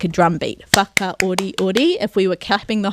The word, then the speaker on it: whakaoriori: That's what you want to do to help you at the beginning, to get that stress right at the beginning. Once you get that first syllable, naturally the other syllables will rhythmically drop, I like to say.